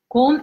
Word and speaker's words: 곰: Gom and gum.